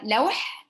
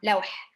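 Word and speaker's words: لوح: Sure, lawh. So I'll write it in the chat. Now, of course, the H is pronounced differently in Arabic, so the ha sound, that's what it is, lawh.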